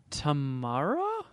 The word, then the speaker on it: Tamara: We got a follow-up in the emails from Tamara, who said, Tamara. Shuddy was the first one to say my name right. Like Tia and Tamara?